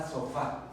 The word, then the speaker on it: sofá: Ejemplo, la palabra sofá. Si yo lo deletreo sería fa. La sílaba tónica es fa, quiere decir que es aguda.